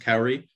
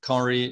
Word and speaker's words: Kauri: and performance session titled i believe it's pronounced cowery scalable bft consensus with